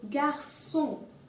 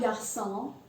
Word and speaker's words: garçon: And there's also garçon. It's not garçon, it's garçon.